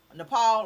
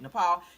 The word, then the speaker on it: Nepal: Nepal, okay, that's how you say it, Nepal.